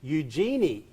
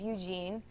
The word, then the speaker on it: Eugenie: When my co-hosts were talking about it in Australia, they were saying Eugenie, let me just spell it, Eugenie, which is correct.